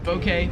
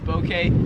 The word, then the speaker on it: bouquet: So I say bouquet, but like a soft O, bouquet.